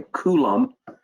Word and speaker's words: coulomb: you clifton because this is actually called a coulomb yeah i think it's the actual pronunciation of that and it's what it's intended